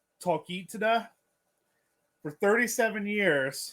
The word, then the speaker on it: Talkeetna: I'm going to pronounce it wrong. Talkeetna. For 37 years, it's Talkeetna.